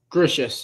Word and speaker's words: Gracious: Is it Natalie Gracious? Gracious, yeah. Gracious? I believe so, yeah.